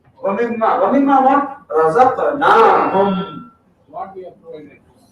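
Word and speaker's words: رزقناهم: If you don't pronounce that alif, you know what does it mean? Then it will mean those ladies provided. Ladies provided the.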